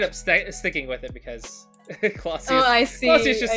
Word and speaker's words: Clossius: No, it's Clausius. It's Clausius. Oh wait, am I pronouncing your name correctly?